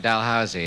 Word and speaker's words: Dalhousie: Is this Dalhousie University? That's right, Dalhousie.